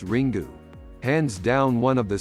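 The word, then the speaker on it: Ringu: to you the original Japanese ring pronounced ring do hands down one of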